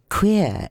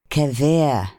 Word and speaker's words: queer: of pronunciation, and thus the word queer is pronounced by them as quever.